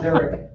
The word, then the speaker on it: Derick: You're still pronounced Derek, right?